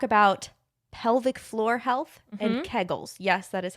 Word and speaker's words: kegels: here to talk about pelvic floor health and kegels yes that is how you pronounce it we'll get into that don't at